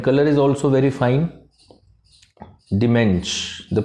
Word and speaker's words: DaMENSCH: Dimensh, the pronunciation is Dimensh.